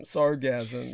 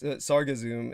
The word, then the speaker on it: sargassum: sargasso is what you you pronounced it like it was an orgasm sargassum you you said that sargassum it's like sargasso like the sargasso sea where okay so it